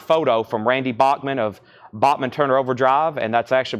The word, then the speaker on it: Bachman: have a signed photo from Randy Bachmann of Bachman Turner overdrive and that's actually pronounced Bachman and Kevin ly has that for